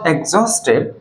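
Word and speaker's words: exhausted: শব্দটা কেউ বল দেখি এক্সজাস্টেড এক্সজাস্টেড এজ উইল বি সাইলেন্ট দো সি ওয়াজ এক্সস্টেড C continued her work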